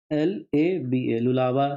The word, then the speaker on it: Lualaba: इसका origin stream जिसको कहते हैं ना, ओरिजिन स्ट्रीम, नाम बहुत इंटरेस्टिंग है, इसलिए पहले स्पेलिंग सुनो। LUALABA, लुलावा रिवर, ये लुलावा रिवर है।